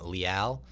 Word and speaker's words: Leal: We've got 2-time welterweight champ Ray Cooper versus Carlos the Lion Leal. I believe I said that right? Yep. Did I? Yeah. Al rhymes with pal?